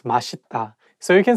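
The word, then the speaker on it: 맛있다: um it's okay because even some korean people sometimes just by mistake saying adita but actually the correct pronunciation is mashita so you can say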